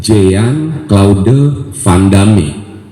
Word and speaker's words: Jean-Claude Van Damme: Terus ada lagi pengucapan-pengucapan, kayak misalnya tulisannya Jean Claude Van Damme, itu bukan Inggris, Jean-Claude Van Damme dibilangnya.